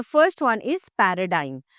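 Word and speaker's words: paradigm: सो, so let's quickly go through the words which have silent ji. The first one इज़ पैराडाइम।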